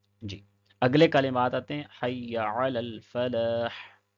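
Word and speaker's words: حي على الفلاح: اگلے کلمات آتے ہیں حی علی الفلاح، تو اس میں بھی یا کو لمبا نہیں کرنا ہے اور عین کو بھی پڑھنا ہے، حی لل فلاح نہیں کہنا ہے۔ اوپر والے میں بعض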